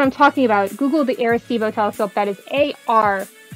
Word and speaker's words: Arecibo: talking about google the aristivo telescope that is a-r-e-c-i-b-o i always want to spell it with an a because that's the way i say it but it's not it's air a-r-e-c-i-b-o aristebo telescope they've now released